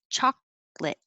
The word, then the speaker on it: chocolate: for the r and chocolate we don't use the middle syllable chocolate we just make it to chocolate and the same thing